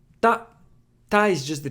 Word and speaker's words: た: Ta. Ta is just the T sound plus A, making a ta sound. It's pronounced like ta in taco.